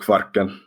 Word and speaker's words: Kvarken: Yeah, the stretch of water that connects Sweden and Finland is called Kvarken. Okay, I could never say it like that, but as the American, I'll just say Kvarken, right?